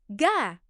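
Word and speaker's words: 가: For example, this is pronounced ga.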